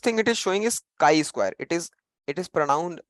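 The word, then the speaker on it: chi-square: the very first thing it is showing is chi Square it is it is pronoun pronounced as Chi Square Chi means Chi Square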